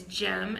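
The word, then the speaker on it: Cem: The C is actually sounds like the G in America. So it's Jem, and his business is Jem Fitness.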